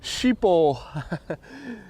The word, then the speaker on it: Schiphol: that's also good Mitchell sheepo yeah it is formerly a hard G and yeah easiest is